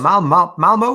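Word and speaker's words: Malmö: from a place called malmo that's the correct pronunciation which uh for those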